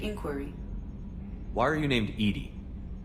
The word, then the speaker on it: EDI: have a specific inquiry why are you named Edie Edie is the ftic pronunciation of e di that is an acronym